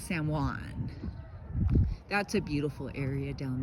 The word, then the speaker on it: San Juan: So now I told Bluan I said I'm calling you Jawan from now on. I go hi Jawan. You don't pronounce the J. It's San Juan.